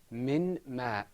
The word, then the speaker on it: من ماء: The next example is, without idgham, it's pronounced min ma'.